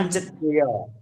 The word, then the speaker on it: पञ्चतयः: ध्यान दीजिएगा, तस्य नहीं है, क्या है, तय्या है, तय्या पंचतय। हाँ, या का उच्चारण पंचतयः। करना आपने जी।